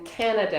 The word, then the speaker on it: Canada: right and uh and think of the stress in Canada is on the emphasis on the first syllable Canada compared to like mamb